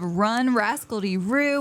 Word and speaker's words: Run Rascaldyroo: Hey guys, we are back with another podcast episode, and I have Melissa, the owner of Run Rascaldyroo, with me.